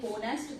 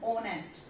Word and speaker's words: honest: So here H is silent. You don't have to say honest. This is not honest. This is honest.